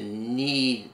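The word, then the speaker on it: knead: may ask you to need the bread the K is silent and then roll the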